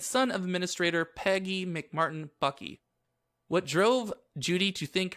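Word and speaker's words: Buckey: Ray Buckley or Bucky I kept writing Buckley when I typed this up it's Bucky so if I say Buckley no I'm just being myself and mispronouncing words or we would assume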